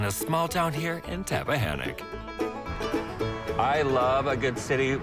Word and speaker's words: Tappahannock: Tappahannock, did I say it right?